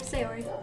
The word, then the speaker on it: Sayori: I'm pronouncing that right? Yep, Sayori.